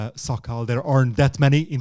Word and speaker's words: Szakal: easiest it's my name it's an so Kyle there aren't that many in the wave we should spell that it's an so it's Alfa